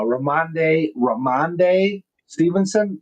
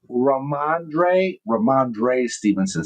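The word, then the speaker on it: Ramondre Stevenson: Uh uh Ramande Ramande Stevenson. Did I say it right? Let's see. Ramandre Ramandre Stevenson.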